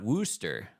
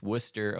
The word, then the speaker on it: Worcester: learned from him that it's not Worster n as it is spelled but if you're local if you're in the no it's Worcester Ohio and so Pastor Dave